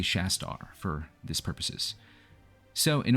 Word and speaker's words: Shastar: Now, I'm going to say Shastar, even though I looked at the pronunciation for like this typical type of Indian warrior, and it's Shastra, but it's spelled differently. It's just, you know, there's like an R here instead of an A. So maybe I'm misunderstanding something, or maybe in Malifaux they use the name Shastar for some particular reason.